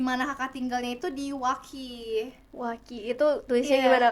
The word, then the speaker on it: Waukee: Kalau orang yang nggak tahu mungkin bakal bilangnya Waukee. Waki. Dan ternyata U-nya silent, jadi Waukee.